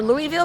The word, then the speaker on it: Louisville: It's Louisville. I'm more Louisville, but people think I'm saying it wrong.